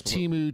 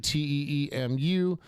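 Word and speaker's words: Teemu: And Teemo Montasari. Wow. Mouth. Says Timu. Tee Mu.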